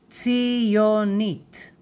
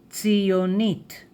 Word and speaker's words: ציונית: Zionist in Hebrew is, for a man, ציוני, ציוני, ציוני, ציוני, the sound of TsadI, tss. And for a woman, ציונית, ציונית, ציונית. The dot here, right? This is the gesh. It closes the syllable.